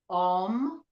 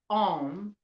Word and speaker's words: Om: Okay, and when you say Om, it's not Om like home. You hear people say Om, home all the time. That's actually not the correct pronunciation.